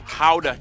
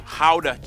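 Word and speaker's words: Gouda: Pride and joy of the nation, Howda cheese. Yep, that's how you pronounce it, guys. Oh, and keep in mind, what do you say? The nation, Howda cheese.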